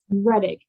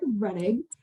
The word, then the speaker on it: Rettig: how do you say your last name eric reddick that's what i was gonna say eric reddig uh of the gsa um talking to us